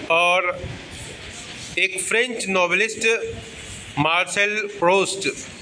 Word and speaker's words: Proust: और एक French novelist Marcel प्रोस्ट, PROUST, प्रोस्ट, हमको लगता है प्रोनाउंसिएशन प्रोस्ट ही होगा, ठीक है.